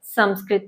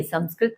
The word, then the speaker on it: संस्कृत: करेंगे कक्षा छह की संस्कृत पाठ्य पुस्तक क्या कहा मैंने गलत बोला नहीं नहीं हम अक्सर गलत बोलते हैं जो हम कहते हैं संस्कृत जबकि इसका सही उच्चारण क्या है संस्कृत तो जब तक किसी